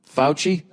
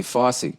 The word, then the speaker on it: Fauci: um all right nia how do you present pronounce f-a-u-c-i fouchy i was gonna say fosse who's dr fauci i